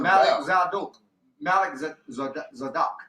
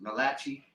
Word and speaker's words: Melchizedek: But you gotta break it down. Malik Zadok. Right. Like some people pronounce it in wrongly. Malachi. Yeah. Right. So but they say Melchizedek would be the English rendition.